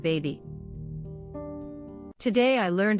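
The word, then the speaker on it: Bhabie: I was actually disappointed when I found out it was supposed to be said baby.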